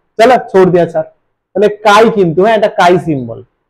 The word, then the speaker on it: chi: আচ্ছা, আবার binary solution, মোল fraction কে লেখা হয় এই সিম্বল দিয়ে, এক্স, অথবা এরকম, এটাকে বলে কাই সিম্বল। স্পেলিংটা CHI চি, কিন্তু প্রোনাউন্সিয়েশনটা কাই।